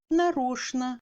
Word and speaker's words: нарочно: Tchen se prononce normalement comme shn dans les mots скучный, конечно, нарочно, etc.